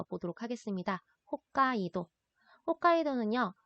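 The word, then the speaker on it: 北海道: 홋카이도는요, 우리가 한국말로는 북해, 도라고 읽는데요.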